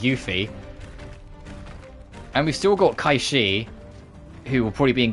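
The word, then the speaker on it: Cait Sith: origin of the word I will be saying kaii cuz that's how it is there's very few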